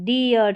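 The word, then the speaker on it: dear: उच्चारण ईयर करके होगा, इसको डीर नहीं पढ़ेंगे, डियर, चीयर, ये है करियर, स्टीयर, इंजीनियर।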